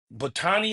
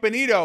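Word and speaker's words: Bonitto: I like this uh Nick Batani, if I'm saying it right. But but Oh, Nick Bonito.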